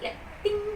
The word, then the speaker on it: leptin: Jadi leptin ni untuk saya mudah ingat adalah macam leptin sepatutnya L e P t i dia punya ejaanlah. Tapi pada saya rasa macam lap ting macam tu. Lap ting jadi macam ting